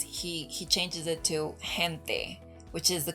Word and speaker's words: gente: he changes it to gente, which is the correct pronunciation of this word, which means people. So Spanish has 5 different vowels, and they are all pronounced the same every single time.